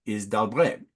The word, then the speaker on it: d'Albret: And the modern version of this historical figure is d'Albret, a two-syllable word.